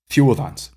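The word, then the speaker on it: þiudans: So again, you can hear how I'm pronouncing it as a single, almost like a single cluster, not really a single vowel, but two vowels, which just makes up a single nucleus.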